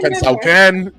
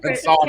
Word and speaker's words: Pensacola: Listen, I used to call it Pensacola. Remember, you guys told me. I think, Nicole, you're the one that sent me an audio. It's pronounced Pensacola.